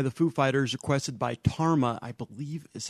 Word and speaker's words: Tama: But that was Everlong by the Foo Fighters, requested by Tarma, I believe is how he pronounced his name. Yeah, I pronounced it Tama last time, and actually, I used to email